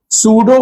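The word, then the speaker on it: pseudo: दूसरा point सूडो force जो body पे लग रहा था उस P साइलेंट में सूडो वो कितना होगा?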